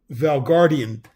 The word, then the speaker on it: Valgardian: Wait, let me pronounce it right. It's the Valgardian steel. Valgardian steel.